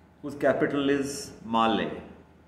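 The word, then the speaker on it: Malé: captivated by or captured by a country called males whose capital is Mal m a l e that thing pronounced Mal it is the capital in the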